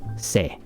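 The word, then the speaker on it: せ: And so this was se. And it will never be pronounced anything other than se. It will never be se or si or se. It's se.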